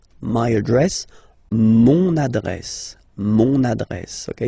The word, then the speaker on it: mon adresse: use adjectif possessif masculin, mon adresse, my address, mon adresse, mon adresse. Okay, you can hear now this little link, so you get to pronounce this N.